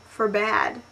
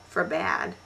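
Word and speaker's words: forbade: FedEd I would have said feeded it's FedEd for bad I really like this word cuz it feels all like old you know for bad oh here's a good one homage homage now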